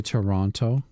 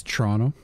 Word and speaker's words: Toronto: It's like how Americans say Toronto. And it's Toronto.